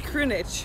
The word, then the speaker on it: Krunic: It's Krunich. Well, it's Krunich. The lack of H.